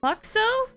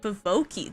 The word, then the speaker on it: Foxo: of butterfly basically uh my original name was fo foxo but someone pronounced it as foki that's very interesting yeah